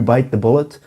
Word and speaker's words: bite the bullet: bite the bullet and the correct pronunciation of this is to stress or emphasize bite bite the bullet not